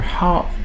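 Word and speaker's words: خاء: on to the letter ha ha this is also one of the sounds that do not exist in english however they exist in other languages such as german where you have the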